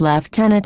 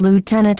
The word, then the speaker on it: lieutenant: stand down Flight Lieutenant he mispronounces lieutenant in Canada is pronounced less can it not lieutenant as it is in the United States military all Canadian Forces lieutenants